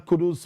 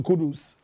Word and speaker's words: Kudus: And so, kudos to Kudus. Kudos to Kudus. Kudus, yes, kudos to Kudus. And I think that it rhymes.